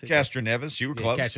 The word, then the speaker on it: Castroneves: that's going to be here this weekend right casanovas is that the name that's how you pronounce it castroneves you were going to catch a nevis okay